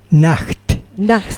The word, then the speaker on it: Nacht: es fácil eh pero la ch de mi apellido se pronuncia J J claro el problema de